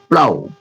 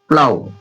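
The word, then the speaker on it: plough: पढ़ा हुआ नहीं था इसे देखिए प्लाऊ प्लाऊ प्लाऊ GS silent हो जा रहा है पढ़ लीजिए ये पढ़ा जा रहा है पी एल ओ यू प्लाऊ इसी में थर्ड रूल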